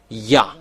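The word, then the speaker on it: יה: The first is Yod Hey, and we pronounce it Ya.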